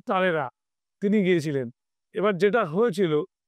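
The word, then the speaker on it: Talleyrand: যাকে আমরা ইংরেজিতে উচ্চারণ করছি ট্যালির্যান্ড, তাকে আমরা ফরাসিতে উচ্চারণ করছি তালেরা।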